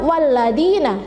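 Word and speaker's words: وَالَّذِينَ: Jadi lafadz walladina di sini ada ya sukun yang jatuh setelah kasroh, atau kasroh yang diikuti oleh ya sukun, maka membacanya walladina, jadi 2 ketukan atau 1 alif.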